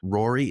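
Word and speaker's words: Ruairi: Tristan Harland as Fred, Gabriel Harland as George, Rory, it's spelled Ruari, Spooner as Percy, and Gracie Cochran as Ginny Weasley.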